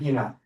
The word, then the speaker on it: Inna: phonetically, phonetically. Yeah, Ina, but it's actually INNA.